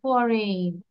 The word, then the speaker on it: foreign: ফরজেন বলি কেন আমরা? ফরেন, ফরেন। Okay. ঠিক আছে, আবার বলো ফরেন, না ফরজেন, ফরেন।